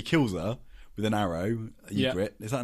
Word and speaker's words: Ygritte: Ygritte. Is that her name? Yeah, Ygritte. Yeah. Ygritte. It's spelled with a Y, though.